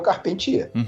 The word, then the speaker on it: Carpentier: E o nome dele não se escreve da forma como é carpinteiro em francês, mas em francês se fala da mesma forma que é o Carpentier.